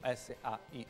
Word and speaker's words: SAIC: Si SAIC, pronuncia così? Esatto. Benissimo, SAIC, sì.